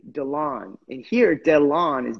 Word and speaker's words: Dilan: I my real name they call me Dylan and that drives me insane I hate that name that's just not a name for me you know so I thought okay let me spell it phonetically DeLonge and here dead lawn